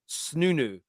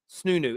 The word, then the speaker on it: Snoonu: Oh, it's called I can never pronounce it. Snunu. Snunu.